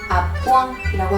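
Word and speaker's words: à point: 아뿌앙이라고 하시면 되고요.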